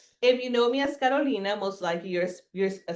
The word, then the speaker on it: Carolina: And my my name is Karolina. Yeah, right. And she said it right, by the way. Carolina.